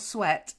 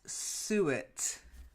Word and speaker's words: suet: massive okay next one is not sweat suet sweat pudding would be horrible suet pudding it's mine oh no